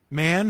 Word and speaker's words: Mann: Man, whose name is pronounced differently than that. Someone want to take a stab at Man's actual name? Oh, no, it's pronounced man.